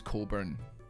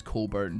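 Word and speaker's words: Cockburn: I did have uh well, her name was Coburn. um in primary school she in in primary like six I think her name was Cole burn but it's spelled C O C K Burn and um just want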